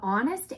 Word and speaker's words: honest: on my gnocchi h is for air the honest air admits that herbalism isn't his cup of